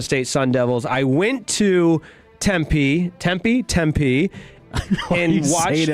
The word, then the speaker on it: Tempe: I went to Tempe.